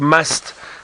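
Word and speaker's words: musth: So Kylie, the word must, and it's spelled M-U-S-T-H, is originally an Indian word, I believe.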